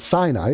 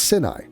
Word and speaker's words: Sinai: So if SIN is sin, then how is SIN AI, or how is anything after that? It's going to be sin something. Okay, so it's not Sinai, it's Sinai. Get with the program.